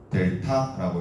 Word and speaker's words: 델타: 이렇게 적고 삼각형으로 적고 읽을 때는 어떻게 읽을 거냐면 델타라고 읽을 겁니다.